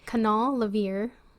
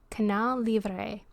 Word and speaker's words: Canal Libre: during this time period canal levier i hope i'm saying that right lovery levier lover seem to i'm going to actually look that up so i say it correctly okay the internet is saying libre canal libre seemed to feature an